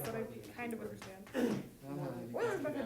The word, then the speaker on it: Euler: Euler's method not so much, but the first part, yeah, totally. Yeah. It's pronounced Euler.